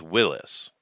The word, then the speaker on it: Willys: But I'm just saying it's technically pronounced Willis. The man who made it, his name is John Willis. It's just spelt with a Y at the end instead of an IS, YS instead of IS.